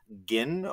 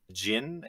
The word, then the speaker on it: gyn: gam origami is marriage gin or jin depending on how you say it referring to women